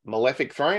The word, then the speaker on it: Malefic Throne: Skyland um so hopefully I'm saying this right malefic Throne is that how I pronounce malathic yeah my malefic Throne yeah beautiful